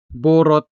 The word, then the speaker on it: borot: Borot. Borot. Stress on the first syllable.